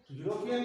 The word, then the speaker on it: European: यूरोपियन के अंदर देखिए क्या है, ही है, लेकिन ई है वो साइलेंट पोजीशन में है, इसलिए इसको यू बोला जा रहा है।